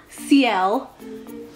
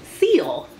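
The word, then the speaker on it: Ciel: Yeah, I guess it's pronounced CL, but I've been pronouncing his name Seal. I'm not sure which one I like, because now I'm so accustomed to calling him Seal, but now I find out it's like a French name, CL.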